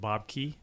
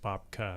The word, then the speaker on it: Bubka: But to reiterate what you said, so Bob Roll had his first book called Bob Key. Yeah. Or it's actually should be pronounced Bob Ka.